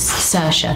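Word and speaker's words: Saoirse: a oh so yeah s-a-o-i and then that's the way it spelled but obviously it's Sasha it's a noble stab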